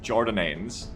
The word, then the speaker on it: Jordanians: 1, it's pronounced Jordananes, and I love that game.